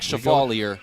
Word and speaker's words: Chevalier: Chevalier is what Coach Ryan. Yeah, the pronunciation guide we were given is different from what Coach Ryan said in your pregame interview with him. So we'll say Chevalier since that's what he said.